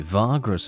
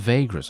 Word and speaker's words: Vagrus: introduction right there and so it's virgos actually virgos is the pronunciation not vegas okay my bad my